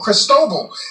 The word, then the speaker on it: Cristobal: Tracking the tropics, here's tropical, if I can talk, tropical storm Cristobal is out there. That's how you pronounce that one.